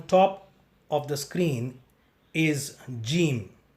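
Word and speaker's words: جيم: The letter Jeem has the same pronunciation like the letter J of English, J of Tamil and J of Hindi. To pronounce Jeem, you will have to flatten your tongue and stick it against the roof of the mouth and then say Jim, Jim.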